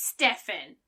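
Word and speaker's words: Stephen: really really irritates me Stevens who spell it with a pH makes us noun sound none of the sound so if your name is spelled s-t-e-p-h-e-n your name is Stefan that is a hill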